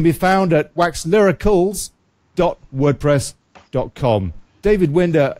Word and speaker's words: Winder: My surname's pronounced Winder, but I'll let you off.